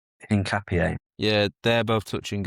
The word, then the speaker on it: Hincapié: Hincapié.